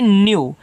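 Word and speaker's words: new: आगे एन ई डब्ल्यू इसको पढ़ते हैं न्यू अगर किसी के बाद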